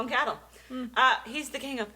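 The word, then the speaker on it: Cathal: me here cathl cal It's c a t h a l Cel c Cel I feel like it would be cattle cattle we're going to call him cattle uh he's the king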